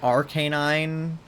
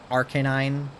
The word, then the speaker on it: Arcanine: growth is growth but Arcanine is like Arcanine Arcanine I think you're supposed to like lengthen the a a little more I just say Arcanine